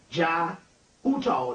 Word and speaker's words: Jai Uttal: You need to get a guy by the name of J-A-I, that's his first name, Jai Uttal. The last name is U-T-T-A-L. J-A-I, first name, U-T-T-A-L, Uttal, the last name, and the Pagan Love Orchestra.